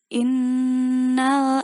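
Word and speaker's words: إِنَّ: Ini bacanya innal insana lafi khusr. Coba di huruf yang nun innal itu ada dengung, ada tasdidnya, jadi kita bacanya dengung.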